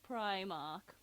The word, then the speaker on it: Primark: as well go to primark and buy yourself smokers pre-mark somebody's going to there's going to be someone commenting saying i can't believe you just said pre-mark it's primark i've always called it